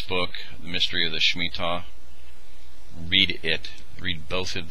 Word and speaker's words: Shemitah: They pronounce it Shemitah, by Jonathan Cahn.